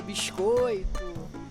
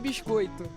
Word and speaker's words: biscoito: They pronounce the S more? Okay, interesting. sotaque carioca puxa pro S, né? Hold on. Sotaque carioca. O biscoito. Biscoito. So they strongly stress the S sound, I guess.